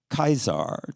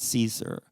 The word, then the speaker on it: Caesar: Kickaro, Kaisar, not Caesar. So when they pronounced it, it was still Kirk, Circ. But, you know, over the centuries and millennia, the sea got soft and we say Cersei.